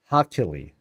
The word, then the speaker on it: Hakili: Hakili. Scent on second syllable.